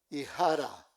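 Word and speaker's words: Hijra: I jara.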